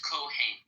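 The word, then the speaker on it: Kohen: am I pronouncing yeah in Hebrew it's Coan so what would happen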